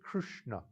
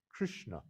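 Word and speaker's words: कृष्ण: of krishna originally is krishna krishna krishna no that's how you pronounce it three letters have the tongue up krishna krishna krishna no and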